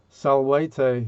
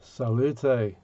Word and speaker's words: salvete: And salvete is how we were taught to say it when we started to learn Latin. And Frankie Howard clearly went to a different school, as he pronounced it salute in Upper Pompey.